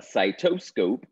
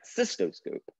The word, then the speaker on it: cystoscope: So a cytoscope is something, is a visual tool used to look at us at, I'm sorry, not site, cystoscope. I pronounced it wrong.